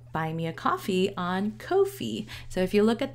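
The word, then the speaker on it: Ko-fi: coffee word but then their website is pronounced Kofi so I I like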